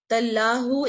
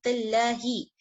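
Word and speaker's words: تالله: Tallahu is wrong, tallaha is wrong, tallahi.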